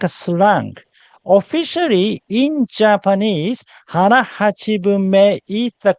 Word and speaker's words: hara hachibunme: And the correct way to say this is hara hachibunme, not hara hachibu. I hear many people saying this hara hachibu, which is not a mistake.